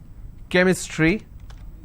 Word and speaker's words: chemistry: for example change but when I have the word chemistry CH becomes Cur sound so I say chemistry